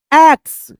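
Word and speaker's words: axe: से एक-एक वर्ड को वर्ड बाय वर्ड पढ़ेंगे, उच्चारण करेंगे। Would cutter become very sad because he had only one एक्स एंड देखिए ए और एक्स पे जो है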